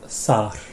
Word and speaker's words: þar: but you rightly were kind of thinking, oh yeah, it's like the word there. And obviously, at least in my English, I don't say the R that's written in the word there, but we know that there should be an R there, right? So you've got not there, but thar.